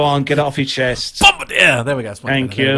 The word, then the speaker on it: Bombardier: Bombardier!